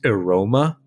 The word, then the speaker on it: AEROMMA: so this is the I think the acronym is supposed to be pronounced Aroma but it's aom MMA